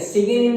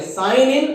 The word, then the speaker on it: साइन इन: और इसका प्रोनाउंसिएशन भी आप लोग सही करेंगे, सिगिन इन नहीं करेंगे, सिंग इन नहीं पढ़ेंगे, इसको ना सिगिन इन पढ़ेंगे, साइन इन और साइन अप, इसको साइन इन और साइन अप पढ़ेंगे, ठीक है।